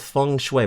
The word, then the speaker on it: feng shui: Okay, so it is called feng shui, but that's how it's spelt. It's always interesting when words in another language look like they're pronounced one way, but they're pronounced in a completely different way.